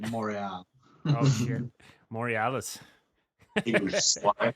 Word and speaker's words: Montreal: Isn't it like Montreal or something if you say it properly? Yeah, if you say it actually properly, it's like Montreal.